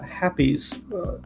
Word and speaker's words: Hapes: He is from the Happies, that's how I'm going to say it, HAPES, system, which apparently is a system outside of the Republic and outside of the Empire.